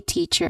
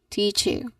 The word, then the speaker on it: teacher: Teacher. So you should pronounce it as teacher. All right. Teacher. There is no dip thong sound in the second syllable.